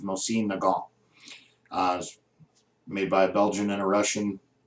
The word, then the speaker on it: Mosin Nagant: And just for pure of heart out there, the correct pronunciation, I believe, is Mosin Nagant.